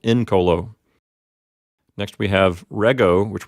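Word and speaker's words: incolo: a third conjugation verb the P note is an open syllable and it has a short vowel so the accident recedes to the first syllable in Colo next we have rego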